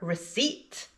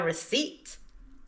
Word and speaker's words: receipt: So, what silent letter do these words have in common? It's the letter P. These words both have a silent P.